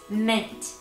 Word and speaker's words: ment: verbs using the suffix ment. Ment. Yes, exactly. It's pronounced just as you hear it, just like that breath mint. M-I-N-T in the spelling.